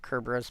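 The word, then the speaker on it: Cerberus: Yes, I pronounce it Kerburus because to me it's got a Greek or Latin uh root and the the letter C is pronounced like a K.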